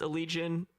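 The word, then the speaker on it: Allegaeon: So night before Thanksgiving, Neobla Viscaris played with, I think it's Allegion. It's spelled like Allegaon, right? Oh yeah, but it's, I think you're supposed to say Allegion.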